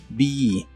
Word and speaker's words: be: verbo be que significa ser o estar se pronuncia con la i larga o doble be be y usaremos el verbo Finish que significa terminar